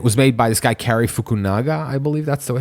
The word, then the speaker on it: Cary Fukunaga: And it was made by this guy, Cary Fukunaga, I believe that's the way his name is pronounced.